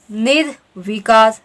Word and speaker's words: निर्विकार: Next है निर्विकार, निर्विकार, निर्विकार, निर्विकार। ठीक है, तो सही आपका उच्चारण करने में क्या है, निर्विकार।